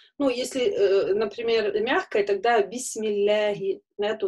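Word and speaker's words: بسم الله: Это у нас здесь, так как перед ляфз-джаляля стоит касра, поэтому бисмилля мы говорим, а не бисмиллахи. Да, то есть это, ну, неверно, мы не делаем ее твердо. Часто некоторые так произносят, да, бисмилла, ну, неверно. Лям мягкая в этом случае.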